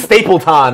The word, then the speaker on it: Stapleton: Stapleton is also here today. You didn't say that right. I butchered your name. It's Stapleton.